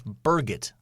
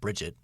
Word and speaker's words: Birgit: It's Birgit, not Bridget. Birgit. I say that one. Never mind. I didn't do so well. Birgit? Maybe a hard G. Birgit, maybe. Birgit. Very, very German.